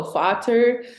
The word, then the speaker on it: Vater: because they're F's over there, they pronounce them as V's. So Vater, um, yeah, just like some words I was able to catch on.